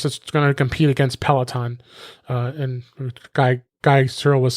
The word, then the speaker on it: Peloton: He kept mispronouncing it. I didn't want to correct him. It was hilarious. Peloton. But it's Peloton. Okay. It's Peloton, which is a workout service that they have.